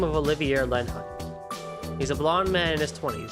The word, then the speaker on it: Olivier: i also realized that his name probably also was pronounced olivier but just like oliver olivier but i've always said it like individual syllables wise like only the air so i apologize for